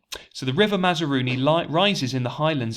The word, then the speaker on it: Mazaruni: cliff another name for me to try and pronounce there for you the river mazarooni mazarooni so the river mazaruni light rises in the highlands of the far